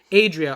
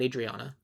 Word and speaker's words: Adria: Adria Arjona, not Adriana.